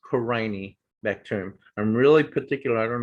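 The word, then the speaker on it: Corynebacterium: killed a lot of people um and it's pronounced crying bacterium not corny okay so if i hear someone say corny bacterium you know i'll roll my eyes and say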